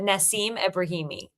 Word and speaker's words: Nassim Ebrahimi: But Nassim Ebrahimi.